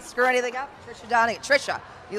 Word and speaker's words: Trisha: Tricia Donegan, right? Am I saying it right? I didn't screw anything up. Tricia Donegan. Trisha.